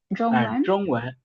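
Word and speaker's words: 中文: ZH வரும்போது நம்ம DCH தமிழ்ல அந்த இஜ்ஜு மாதிரி சவுண்ட் நாக்க மடக்கி ப்ரொனவுன்ஸ் பண்ணுவோம். ட்ரொங்வன் ட்ரொங்வன் Zhongwen, Zhongwen.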